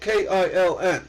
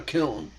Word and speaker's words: kiln: It's pronounced kill, by the way. That's that's a little tidbit. Most people don't know. It's spelled K I L N.